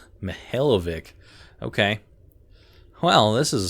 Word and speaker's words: Mikhailovich: Rear Admiral Mikhailovich, huh? Mikhailovich. Rear Admiral Mihailovic, 5th Fleet. That is not at all how I pronounced your name. Mihailovic.